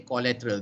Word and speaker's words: collateral: collateral collateral collateral okay in both pronunciation the first syllable is k not ko k collateral okay everybody